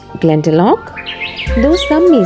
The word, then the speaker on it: Glendalough: Saint Kevin Glendalough is pronounced Glen-da-lok, though some may say Glen-da-low. Here I will pronounce as Glen-da-lok.